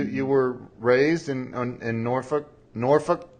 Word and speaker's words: Norfolk: were raised in Norfolk Norfolk I could never say it right I know it's spelled Norfolk but everybody says Norfolk if if you're from down there so right right but